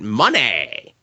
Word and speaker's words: Moné: Even though it's spelled Monet and has the accent symbol over it, her theme song and she says it Money.